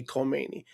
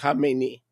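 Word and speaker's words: Khamenei: and by the way, people can't pronounce it. They say Kmeni. That's not Kmeni. Kmeni is the guy that he succeeded. Okay? It's Hamemeni.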